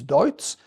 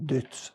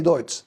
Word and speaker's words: Deutz: Champagne Deutz, you name it, because it's German from the start, which is Deutz, but the French can't pronounce it, so it becomes Champagne Deutz, something in between. So personally, I say Deutz, and I'm sitting here,